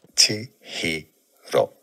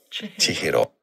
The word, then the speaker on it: Chihiro: I'm going to have to look up how to pronounce this. Chihiro. Chihiro.